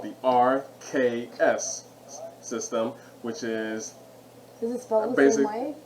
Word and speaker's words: Arceus: pokemon legends rc's question rks it's rpa it's pronounced rks it's arceus um i'm just gonna really that's